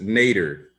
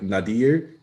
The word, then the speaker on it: Nader: so if it's n if it's not nater and should be like Nader then I just want you to know that that's because like Ralph nater pronounces n a d r as nater so I don't know